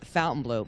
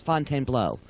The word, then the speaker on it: Fontainebleau: heard of it you must not be alive fountain blue hilton and let's just say it in the correct way well it's pronounced uh it's pronounced by everyone fountain blue but it is the correct pronunciation is fontainebleau so but uh i think everyone knows whether